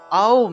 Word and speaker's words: ওম: ওম, আর এটা হবে ওম উচ্চারণ, অর্থাৎ আ দিয়ে আরম্ভ করবেন, অর্থাৎ মুখটা একদম বড় থেকে ছোট হবে, মুখটা একদম হা যদি করেন, বড় করেন, তাহলে দেখবেন আ উচ্চারণটা আসে, ওম, ওম, এইভাবে উচ্চারণটা হবে, ঠিক আছে?